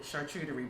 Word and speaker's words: charcuterie: So I thought, I love a good charcuterie board. You know, fancy for meat and cheese board. Again, it's French. Charcuterie, which is the proper pronunciation, actually means cured meat.